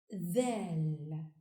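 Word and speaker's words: دال: The 9th letter is pronounced Dal and is written from right to left on the line. Dal has one dot above. Dal like in the. Dal, the.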